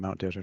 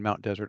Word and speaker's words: Mount Desert: from the fact that in the French that is what he named it and that's how it's pronounced and it means Barron